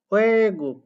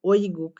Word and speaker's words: 외국: 외국, ওয়ে গুক, কিন্তু এটা তো বললো না ওই গুক, এরকম কি বললো? তাহলে এই ওই উচ্চারণটা সঠিক না। ওয়ে গুক।